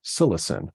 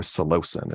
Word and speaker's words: psilocin: Psilocybin is converted by the body into another drug, psilocin or psilocin. It's pronounced in different ways.